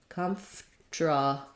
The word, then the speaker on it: comfortable: hear that people uh native speakers don't say comfortable they don't do all four syllables there and they end up changing the order of the sounds it sounds more like com comra still first syllable stress but now comra um my instead of ferda I I lose this syllable with the r and it just becomes a TR blend comfortable comfortable um comfortable